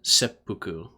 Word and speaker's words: seppuku: for those language nerds there's an extension of the consonant uh in seppuku yeah a couple semesters